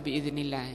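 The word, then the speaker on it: بإذن الله: Ini insyaallah biidznillah ini bacanya, ya kurang alifnya.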